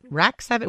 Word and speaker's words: RAC7: Am I saying this right? RAC7 or is it Rack 7? What am I How am I supposed to be saying this name? Both works fine. Yeah. But it's spelled RAC7 and I'm sure they say Rack 7 when they're talking to people.